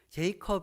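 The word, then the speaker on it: Jacob: 받게 되었어요 여기에 나오는 제이크 없 j 컵 이라고 하는 것은 사실 영어식 발음 이지만 성경에 나오는 야곱이 에요 감독의 이름은 이사 또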